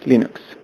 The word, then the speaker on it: Linux: Hello, this is Linus Torvalds and I pronounce Linux as Linux.